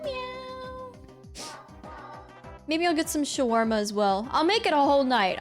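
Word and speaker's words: shawarma: a wonderful day let's talk about scharma pronunciation I don't know why people say schwarma it lit it has an a there I don't even I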